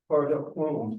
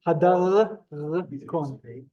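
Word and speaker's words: הדרכון: That word there, hard up phone, you pronounce it hard up, red phone. Hadarkon. So if you remember, sorry? I was trying to pronounce it hard up phone, hard up phone. Yeah, that's well, sir. Hadarkon. Yeah. Hard up phone. Except you're saying it in an American way, Hadarkon.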